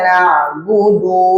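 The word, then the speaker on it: نعبد: Jadi iyyaka na'budu wa. Dari kalimat du ke wa itu harus hati-hati. Iyyaka na'budu wa budu wa. Jangan budu wa. Jangan ada nambah.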